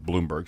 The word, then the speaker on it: Blomberg: Bloomberg, sorry. It's spelled like Blomberg. I know it is. Bloomberg.